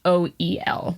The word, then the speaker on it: Hoel: Howl, but in the Welsh it's spelled Howel, and then in the English it's Hoel, like Joel but whole.